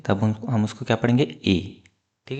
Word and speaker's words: へ: पढ़ेंगे हम ए पार्टिकल। ठीक है? ये है हिरणगा का हे पार्टिकल। पर जब हम उसको एज अ पार्टिकल यूज़ करेंगे तब हम उसको क्या पढ़ेंगे? ए।